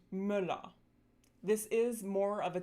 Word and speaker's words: Müller: The lax umlauts tend to occur in closed syllables, so syllables that end in consonants. These are often spelled with double consonants too. Some examples are Götter, Männer, and Müller.